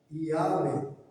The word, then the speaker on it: Yahweh: palavra Adonai nessa pronúncia Yahvé. Olha só que loucura aí. Você sabia disso? Observação importante: a forma Jeová tornou-se muito conhecida no cristianismo, embora academicamente Yahweh seja considerada mais próxima da pronúncia antiga.